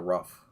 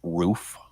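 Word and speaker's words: Ruf: gran turismo had the rough yeah grand transport had the rough i i actually i guess they pronounced roof okay yeah but they were because it's german yeah they were horses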